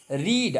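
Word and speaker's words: read: V1 में बोलेंगे रीड, V2 में बोलेंगे रीड को रेड, और V3 में बोलेंगे रीडे बोलेंगे, रीड रेड रीड।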